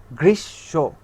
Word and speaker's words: গ্রীষ্ম: যেমন কি এই যে গ্রীষ এর পরে হচ্ছে ম, কিন্তু ওই ময়ের উচ্চারণ আমরা কি করব না, কি করব, এই গ্রীষের শকে আবার উচ্চারণ করব। অর্থাৎ গ্রীষ্ম, আত্মীয় না, আত্মীয়।